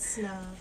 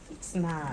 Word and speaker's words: PSNOB: The Oh, P is silent. Yeah. I've been saying peace now for about 5-6 years. No, just snob. Snob, There you got go.